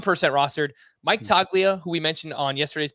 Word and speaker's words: Toglia: So Michael, and let's get this pronunciation right. Michael Toglia? It might be Toglia. I feel like I've heard that other places. It looks like Toglia. There's a G in there, but I think it's silent.